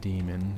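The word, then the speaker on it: daemon: statue I ever see I guess it's just pronounced demon you know we have the American spelling just d e m o n but the d a e is still pronounced demon crazy English spellers all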